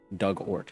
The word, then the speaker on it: Dugort: Pronunciation Doug, like the past tense of dig, ort. Doug Ort, yeah. Rhymes with hurt.